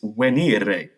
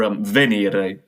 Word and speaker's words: venire: It's venire, or venire, depending on your preferred pronunciation of Latin, and that means to come or to arrive somewhere.